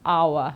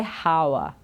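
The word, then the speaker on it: hour: can choose right but the one to remember I think it's our okay never say how okay but I know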